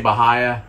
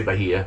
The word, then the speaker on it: Bahia Honda: want to pronounce it we say bahaya some people say bahia so if you've never